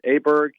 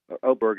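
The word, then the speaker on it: Åberg: Aberg, it's Oberg, I guess is the way it pronounces.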